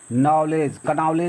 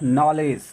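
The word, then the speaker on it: knowledge: है ये क्या है नॉलेज नहीं है इसमें केक का उच्चारण नहीं होना है ये क्या है नॉलेज मतलब ज्ञान इसे साउंड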